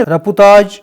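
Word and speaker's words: رپورتاژ: ادب کی دین ہے۔ رپورتاج اس کا فرانسیسی تلفظ ہے۔ انگریزی میں رپورتاج کو رپورٹ ایج کہتے ہیں۔ اردو میں اس جدید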